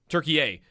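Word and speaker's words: Türkiye: there's in our our language and versus theirs is I know like Nick mentioned turkey e tur is turkey a turkey a right thank you that is the English pronunciation now I believe okay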